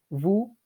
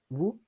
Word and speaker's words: vous: Vous. Vous. Like nous, we don't pronounce the S at the end. It's just vous.